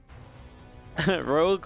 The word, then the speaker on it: Rogue: rogram if rogue rhymes rogue rhymes with brogue drogue and vogue and in ceaseless cologne